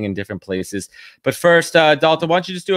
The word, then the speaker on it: Dualta: Dualta. Yeah, surname. Yeah. Why don't we just let the guest pronounce say their name?